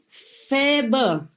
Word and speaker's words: Faber: It's written F-A, like in Vietnamese A. It's like cafe in French, pronounce it like yes, A in French. And B and is pronounced more or less like like in urgent. Nah? So I say Faber.